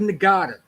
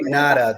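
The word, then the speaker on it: Ngata: yesterday wide receiver Joseph nagada okay now I'm glad he's back because I thought he didn't get a fair chance um it's actually NADA the G it's actually NADA the g is silent oh my bad sorry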